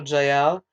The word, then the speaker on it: Yael: canaanite so yeah that's it's pronounced also jael um so yael y-a-e-l went out to meet